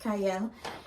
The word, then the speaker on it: Qiayel: TV I'm your host cyle yes I know it starts with a q but it is pronounced cyle and today I have